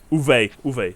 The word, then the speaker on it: Uwe: Uwe, like Uwe Boll, the famous director.